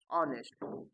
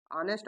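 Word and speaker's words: honest: उच्चारण जैसे ऑनेस्ट ऑनेस्ट देखिए य च यानी ह से शुरू है लेकिन इसका उच्चारण क्या आ रहा है ऑनेस्ट ऑनेस्ट अर्थात अ की उच्चारण आ रही है वावे वावेल्स का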